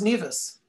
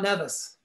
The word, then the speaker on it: Nevis: And it's pronounced Nevis. Yes. Not Nevis.